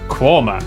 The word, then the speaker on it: Quernmore: Gotham Gotham followed by a stop in quernmore qumer before finishing up in alwick anik which is